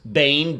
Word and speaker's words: Boehm: Hello everyone, this video is going to be for the disappearance of Frederick Joseph Boehm, that's B-O-E-H-M, but it is pronounced Bane, B-A-N-E.